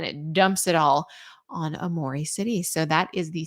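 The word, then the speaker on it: Aomori: being very snowy however it's Amore City I think that's how you pronounce it Amore City a o m o r i uh extreme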